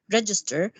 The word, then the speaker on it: register: how important is register register by the way the stress serial is on the first syllable because it's a noun when it is a